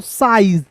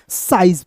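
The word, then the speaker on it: size: साइज। क्या पढ़ेंगे? इसे पढ़ेंगे। एस आई जेड ई को क्या पढ़ेंगे दोस्तों? साइज पढ़ेंगे।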